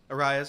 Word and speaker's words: Arraez: Arraez, yeah.